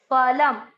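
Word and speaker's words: फलम्: तमस, स में अ की मात्रा विसर्ग को ह, तमसः फलम, फ पूरा और ल में आधा म, फलम।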